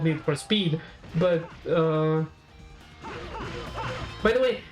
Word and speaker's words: Need for Speed: Like, I keep saying Need for a Speed like with an S sound at the beginning.